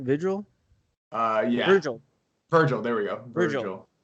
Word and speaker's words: Virgil: i mean technically i'm off-white so i'm on vigil right is that how you say his name vigil uh yeah virgil virgil there we go virgil dude virgil he